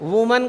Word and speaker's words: women: वुमन का क्या बनेगा, हाँ, जैसे मैंने लिखा WOMAN, वुमन, इसका क्या बनेगा, WOMEN, इसका उच्चारण होता है विमिन।